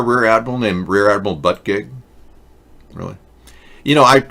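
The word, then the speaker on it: Buttigieg: really you know I I checked the pronunciation in French and that's the name is derived from a French he looks French you know and I'm correct in in French when you pronounce his name this is what you get but a gig English pronunciation is but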